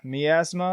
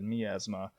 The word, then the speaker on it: Miasma: But let's move along to 2005 with Miasma, or I've heard some people pronounce it Miasma. I'm pretty sure the proper pronunciation is Miasma.